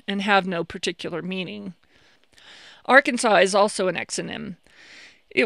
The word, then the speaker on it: Arkansas: have no particular meaning arkansas is also an exonym it was applied by the french which is why it has that silent s at the end illinois was similarly named